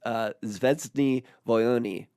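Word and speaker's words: Звёздные войны: And we'll get to that in a second, but it's actually pronounced Zvezdny Voyony, which is War of the Stars.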